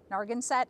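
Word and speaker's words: Narragansett: our narga set turkey nargin set i believe is how it's pronounced so they're really great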